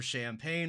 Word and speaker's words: champagne: And then when you take chicas and champagne, we also get another instance of same letters, different sound. The CH turning into a SH sound for champagne, of course.